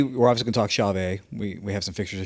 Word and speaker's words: Chauvet: And maybe we should just take a second here to tell the internet that it is officially Chauvet, not Chauvet.